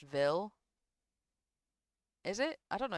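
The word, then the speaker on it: Ville: It's pronounced Vil.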